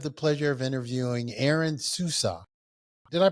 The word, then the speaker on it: Souza: except we have the pleasure of interviewing Aaron Susa did I pronounce that correct Aaron Ain sua yes yep Aaron soua and we're going to be discussing uh you